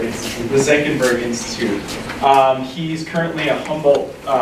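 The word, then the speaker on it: Senckenberg: The Zenckenberg Institute. The Zenckenberg Institute.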